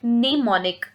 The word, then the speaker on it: mnemonic: सो the next is निमोनिक। एम is silent, we will pronounce it निमोनिक, निमोनिक।